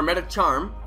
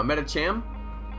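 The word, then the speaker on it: Medicham: Or Metacharm. No, Metacham. Did I say it wrong? Metacham. Metacham. I said charm.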